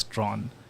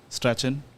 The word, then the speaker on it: Strachan: I grew up playing, I was told way back when that it's Strawn, and I've always done that. But it's like a thing where everyone pronounces it as Strachan or Strachan until they're told that it's actually Strawn.